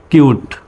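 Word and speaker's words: cute: এর মতো এবার দেখুন সি এর পরে কি আসছে ইউ আসছে ইউ আছে তিনটা লেটারের মধ্যে নাই ইউটা হলো অন্য লেটার সুতরাং সির উচ্চারণ অর মতো সি ইউ টি কিউট তো এবার কিন্তু আর সিউট বলা যাবে না সির উচ্চারণ সর মতো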